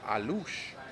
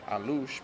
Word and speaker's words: Alux: done, and it's called A-Loosh, but it's spelled A-L-U-X. But we're pronouncing it A-Loosh because that's how the Mayans pronounced it, and the Mayans actually, the word A-Loosh means, do you remember?